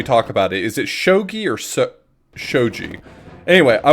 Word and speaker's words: shogi: it just looks like a cool game it's shogi sh G it's Jesus I can't this conversation